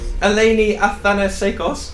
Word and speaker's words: Eleni Athanasekos: Eleni Athanasekos, did I say it right? That's correct, yeah.